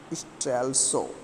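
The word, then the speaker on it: Strelsau: Okay, what you pronounced it, you can pronounce it Strelso.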